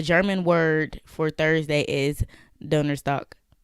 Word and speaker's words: Donnerstag: But German, to say this, the German word for Thursday is Donnerstag. Donnerstag, I believe is how you spell it.